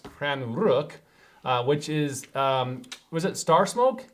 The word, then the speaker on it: Stjärnrök: what google says it's spelled s-t-j-a-r-n-o-r-k but it's pronounced cran rook uh which is um was it star smoke